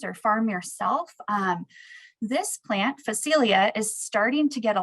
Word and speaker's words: Phacelia: sure I got it right, but it is pronounced Phacelia. And for those of you that maybe have farmer friends or farm connections or farm yourself, this plant, Phacelia, is starting to get a lot of conversation